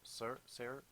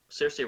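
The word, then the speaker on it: Saoirse: There's a few times that how do you say her name? Sarah Ronan. Cersei Ronan. Cersei Ronan has like a big speech Hmm.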